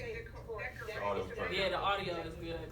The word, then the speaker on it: DKOR8: It's Decor. Decor Oh, home. it's Decor cool. I am so sorry. Yeah, just It just, people say decorate. it's 'cause they don't- decorate. Technically, it's decorate.